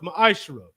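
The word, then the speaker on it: מעשר: Means 10th in the Hebrew is pronounced ma'ashra.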